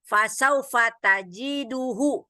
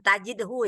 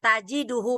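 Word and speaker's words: تَجِدُهُ: Yang nomor 2 tadi, fasaufa tajiduhu. Jangan tajidhu ya. Ini salah nih wajah. Iya. Fasaufa tajiduhu, betul. Salah saya tadi bacanya ya. Fasaufa tajiduhu waktal hajah. Nggak boleh dibaca tajidhu.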